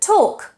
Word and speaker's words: talk: For example, the word talk. You can't say talk with an L. The L is silent.